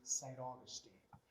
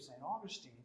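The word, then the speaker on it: St. Augustine: of the city of saint augustine is spanglish rather than sand we have saint we spell it as if it was in english but we pronounce it as if it's in spanish okay and then we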